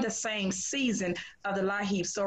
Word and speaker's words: LIHEAP: It's pronounced LIHEAP.